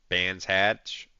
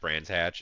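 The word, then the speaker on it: Brands Hatch: believe we are at band hatch brand hatch brand hatch is how it's pronounced I I'm pretty sure um but um yeah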